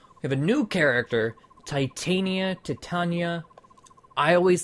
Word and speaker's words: Titania: And it's a different pronunciation, you know? I get it. But I say Titania. So if you're bothered, I'm sorry. let's see. Titania.